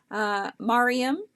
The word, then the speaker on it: Miriam: Or Miriam? Is it Miriam or Mariam? Don't be shy to correct me on how I'm pronouncing your name. I'm totally okay with that. I'd rather pronounce it correctly than incorrectly. Miriam. Got it.